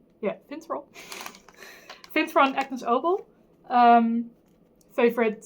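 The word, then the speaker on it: Finntroll: Do you say it like Fintroll? Yeah, Fintroll.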